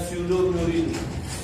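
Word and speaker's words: pseudomurein: उसके आगे लिखा गया स्यूडोम्यूरिन, साइलेंट रहता है, ये स्यूडो का मतलब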